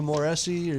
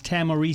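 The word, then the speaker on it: Tahmooressi: long time to to moresi let me help you with that that H is silent it's tamari tamari God I'm sorry I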